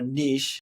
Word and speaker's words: niche: Um, and I always tell my students, you know, when it comes to like marketing, like a niche, you know, or a niche, if you want to say it correctly, is like, you know,